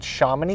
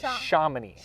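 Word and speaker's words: Chomonix: well yep and you know it's actually called shamany golf course my bad you know and that's one of the biggest things shamany yep and one of the biggest things we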